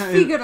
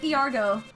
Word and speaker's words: Figaro: Like, look at it, it's Figaro. It is, yeah. I've always pronounced it Fiargo, but it's not that. No. There's no R in it.